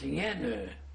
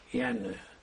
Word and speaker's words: Jenő: In Hungarian, it was Jenő. Official registered in the birth certificate and papers. How do you spell it? J E N O. It's in Hungarian Jenő.